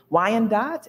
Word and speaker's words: Wyandot: Lenape people, the Miami people, the Ottawa people, Wyandot, is that the proper pronunciation?